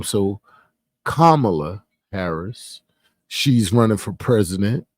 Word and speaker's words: Kamala: no longer is running for president it is Camala Harris or Kamala Harris right I don't want to sound like those other folk when they say her name so kamla Harris she's running for president and for me